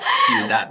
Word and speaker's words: ciudad: Ciudad. 네, Ciudad. 이것도 마찬가지로 지금 배로 끝났으니까 처음 마지막 모음에 강세가 와서 어떻게 읽는다고요, 여러분?